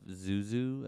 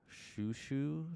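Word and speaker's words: Xiu Xiu: Um, this is I was listening to a lot of Zuzu at the time, or Shushu, depending on how you want to pronounce it.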